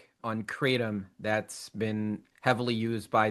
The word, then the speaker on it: kratom: So it is pronounced kratom, Kratom. The American population may pronounce it as kratom with like a D.